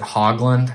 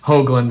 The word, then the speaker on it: Höglund: get a new teacher they would always pronounce it hogland and i don't really like that uh it it has nothing to do with pigs so hoagland is what i stuck with and it actually